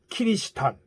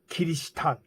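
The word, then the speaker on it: キリシタン: 그래서 일본에서는 키리스탄, 즉 크리스천이라는 요 영어를 키리스탄 이렇게 발음한 거예요.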